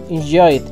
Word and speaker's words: enjoyed: final por dos consonantes en este caso Enjoy eh es suena una d muy leve y muy rápido i enjoyed entonces eh practiquen Y